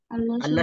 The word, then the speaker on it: আল্লাহ: এটা হয়ে যায় তেমন কষ্টকর কিছু না এখানে আল্লাহ শব্দ দেখেন আল্লাহ শব্দ এটা এখন আল্লাহ শব্দ